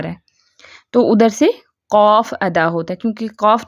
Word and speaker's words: قاف: اس کو تھوڑا سا لمبا کر کے پڑھتے ہیں جب بطور حرف پڑھتے ہیں.